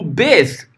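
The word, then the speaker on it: בית: aprender tá é o Beth tá Ah não é bet né Por que que você fala Beth porque eu tô usando a pronúncia massorético ética do hebraico bíblico é beth né OK depois eu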